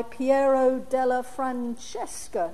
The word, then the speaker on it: Piero della Francesca: Now, you should all have been given a copy of this wonderful painting by Piero della Francesca. Is that how you pronounce it, Gilly?